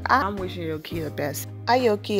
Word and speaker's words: Aoki: Aoki is how you say her name, I think. I don't think the A is silent, but she's 16 and she's in high school.